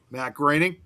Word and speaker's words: Groening: Matt Groening. Yeah. Okay. Well, because you wouldn't have expected that A sound in from OE.